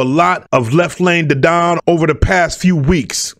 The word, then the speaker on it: Didon: Actually, I believe it's Didon. I pronounced his name wrong so many times in